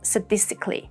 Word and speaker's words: sadistically: In sadism and sadist, we have this a sound. Sad sound. However, in sadistic and sadistically, we have s with a schwa sound. S. Sadistic. Sadistically.